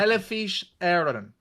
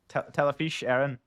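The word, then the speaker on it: Telefís Éireann: Telefish Aaron. Telefish Aaron.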